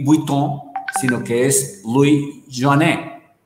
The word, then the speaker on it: Joinet: o Louis Joanet o Joinet, pero en francés dicen que se pronuncia Louis Joanet.